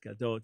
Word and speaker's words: Gadot: And Gadot, I was just kind of pronouncing the Hebrew the way I thought it should be, but it's Gadot.